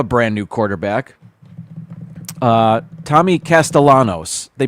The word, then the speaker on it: Castellanos: They have a brand new quarterback, uh, Tommy Castellanos. They pronounce it Castellanos, but it looks like Castellianos with the double L pronounced like a Y, but they they were saying it like it's an L.